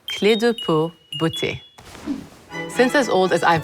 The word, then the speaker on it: Clé de Peau Beauté: for those of you who don't know it's pronounced clear depuis butchy since as old as I've been around you